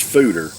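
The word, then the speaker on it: foeder: ale it it's pr it's spelled f-o-e-d-e-r but it's pronounced fooder this fooderage dale basically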